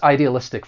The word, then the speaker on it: idealistic: For pronunciation, there are five syllables. The stress is on the second to last syllable. Idealistic. Now to give you a syllable stress rule. When a word ends with IC, the stress is going to come on the second to last syllable. Electronic, strategic, idealistic.